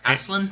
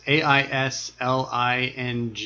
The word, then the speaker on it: Aisling: Ashlyn. I think it's pronounced Aislinn. Aislinn. But it's Aisling. I think us English people would say Aisling. Aisling. But it's like at first Celtic.